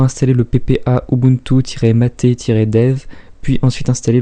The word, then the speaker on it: MATE: donc c'est un environnement qui se prononce mater c'est comme doom les prononciations sur linux sont toujours un petit peu particulière dans se prononcent mater non mais dites donc par avance que j'ai compris c'est parce que c'est le nom d'une plante d'amérique tu mérites du sud voilà donc pour installer